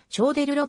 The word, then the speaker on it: Choderlos: たまたラクロと同時代の様々な文献には超だーローズのつづりが散見されるこのことから版ランするとラクロ自身は超出ろと発音していたと推察される日本語では